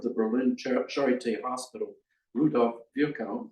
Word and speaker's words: Virchow: Berlin Charité Hospital, Rudolf Virchow, you can pronounce it various ways, but I've been told that's how they did it in his part of the country, who published a weekly medical journal as the revolution waxed and waned.